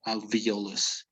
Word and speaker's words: alveolus: about this one diallos it's like the e sounds like an e in spanish it's alveolus uh what about this